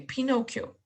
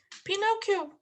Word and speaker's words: Pinocchio: Aquí esta doble C se pronuncia como si fuera una K, okay? Pinocchio. Pinocchio.